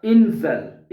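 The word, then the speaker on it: Insel: पढ़ना है ठीक है जो ई है उसको इंग्लिश का ए पढ़ेंगे आप ठीक है और जो आई है उसको आपने ई प्रोनाउंस करना है तो बनेगा इंजल इंजल ठीक है इंजल इंजल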